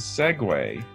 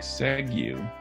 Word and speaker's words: segue: So you might think segue, but it's actually segue, segue.